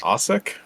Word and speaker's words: Asick: Um, my last name's actually pronounced Asich.